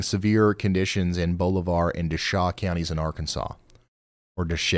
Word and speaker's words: Desha: h County in Arkansas pronounce it like the locals that's Des County pronounced like d back to you Ryan